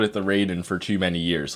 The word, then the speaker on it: Raiden: we have the Raiden which apparently is supposed to be pronounced ryen but I I don't know if I can I I feel like I've just called it the Raiden for too many years